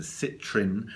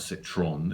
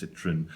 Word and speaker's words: Citrin: Tomorrow, like I said, I'll be back with another Yeezy 350 V2, which is the Citrin. And I say it like that because it's not Citron, it's Citrin.